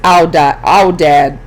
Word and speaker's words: aoudad: The largest wild animal in Egypt is a bearded sheep, or aoudad, pronounced aoudad.